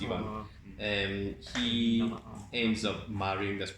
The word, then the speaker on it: Ivan: It's written Ivan, but it's pronounced Ivan.